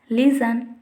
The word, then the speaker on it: listen: T is not pronounced in most of the words when it came after S at the middle of the word. If you see the examples, whistle, Christmas, listen, etc.